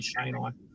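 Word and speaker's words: cheynei: say, McDowellii and Shanei, which is usually pronounced Chenii, which is incorrect. It's actually Shanei for the jungle carpets.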